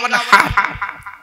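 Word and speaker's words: وانحر: ইন্না আতাইনাকাল কাউসার ফাসাল্লি লিরাব্বিকা ওয়ানহার, ফাসাল্লি লিরাব্বিকা ওয়ানহার, ওয়ানহার, ওয়ানহার। এই গলার ভেতর থেকে হেটা উচ্চারণ করবেন, হাই হুচি, হাই হাওয়াজ নয়।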